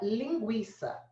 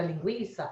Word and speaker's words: linguiça: Porque às vezes você tem a palavra linguiça. Ó, linguiça. Na palavra linguiça, a fonética é assim, ó. Linguiça é diferente de guerra, porque a letra U é pronunciada.